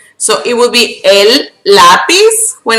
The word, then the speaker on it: lápiz: Now, a word that ends with a Z, which we pronounce like an S, in Spanish, when, like this, okay? So, for example, the word lápiz, which means pencil, you add es, right?